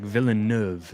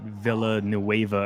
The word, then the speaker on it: Villeneuve: You are supposed to pronounce the track Villeneuve, not Villanueva or whatever Spanish or other language you put place.